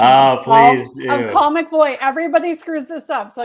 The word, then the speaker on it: Colle McVoy: I have to um give you the proper pronunciation. I'm call McBoy. Everybody screws this up, so you're totally cool. It's call.